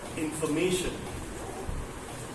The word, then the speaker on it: information: For example, information. Information. So it has information. 4 syllable. It has 4 syllable. But the stress is on the may part.